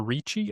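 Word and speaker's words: Ricci: It has Christina Christina Richi I think is how you say her name and Richie.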